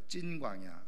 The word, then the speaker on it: 신광야: 근데 이제 우리식으로 발음하면 이렇게 되어져 있는데, 정확하게 발음하면은 사실은 찐이라고 하는 표현이 맞아요. 찐광야.